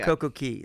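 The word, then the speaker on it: CocoCay: They're things like, "Plan your special day at Coco K." No, Coco Key. That's how you say it, right?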